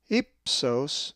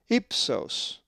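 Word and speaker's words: ὕψος: If you said ipsos, you are correct, for the accent is over the epsilon, ipsos.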